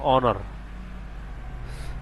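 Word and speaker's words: honour: তারপর হচ্ছে এখানে এইচ এর উচ্চারণ না আসে, এখানে হবে অনার।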